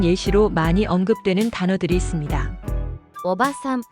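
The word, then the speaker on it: おばさん: 오바산, 아줌마. 이 단어는 오바산이라고 짧게 발음합니다.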